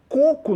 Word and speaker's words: coco: ir lá no início a água de coco coco não é acentuado por que vão lá coco separar sílabas onde é que se prolonga corpo a primeira sílaba né que no caso ali a penúltima paroxítona paroxítona terminada em órgão é